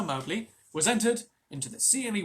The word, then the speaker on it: Mowgli: So you guys may have noticed that I pronounced Mowgli as Mowgli, but I read the thing that Rudyard Kipling himself wrote about how to pronounce the names.